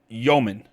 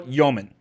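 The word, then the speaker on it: Dëmin: So it's about Yegor Yoman. And apparently now, which I've got to actually make sure I'm doing now and writing his name, he's having an umlaut over the E in his name, which is a new thing.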